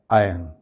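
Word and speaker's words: iron: pronounce किया जाता है जबकि इसमें एक्चुअली बोलते वक्त आर साइलेंट होता है यानी इसका सही प्रोनंसिएशन क्या है आयन सही प्रोनंसिएशन इस लफ्ज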